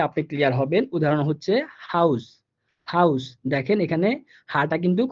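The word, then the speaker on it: Haus: তো এখানে আমরা দেখাইছি আপনাকে দুইটা উদাহরণ, যেমন হাউস। হাউস, এখানে কিন্তু হাটা স্পষ্ট বাংলা হ এর মতো উচ্চারিত হইতেছে।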